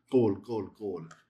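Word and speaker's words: כל: which is the word kol. You'll see that a lot. It's when it doesn't follow a hard syllable, it changes over to the comments hatuf and it's pronounced as a short O. Kol.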